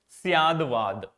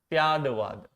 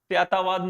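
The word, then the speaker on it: स्याद्वाद: way of putting knowledge, categorizing knowledge is called Syadvad. I am writing this is for so that you don't mispronounce it. Syadvad. Okay. So it becomes Syatvad becomes Syatavad nahi hota, Syadavad ho jata hai, because in the Sanskrit language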